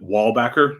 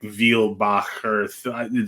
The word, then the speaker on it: Weilbaecher: It's like Weilbaecher, like this, like that excess Germany-ness that you need to have in there.